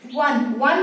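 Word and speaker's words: one: अब देखिए अ वन eyed man, यहाँ पे वन में हमें क्या मिला, ओ वॉवेल है, लेकिन यहाँ में प्रोनाउंसिएशन कैसा निकल रहा है, इसका जो साउंड है वो क्या निकल रहा है, व, यहाँ पे साउंड निकल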